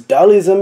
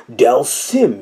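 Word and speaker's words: Dhalsim: the temperature rise as Taoism incinerates you I did mispronounce that y'all gonna douse Sim wow it's hard to read this through a camera lens del Sim incinerates you with his mystical yoga flame here your spine crack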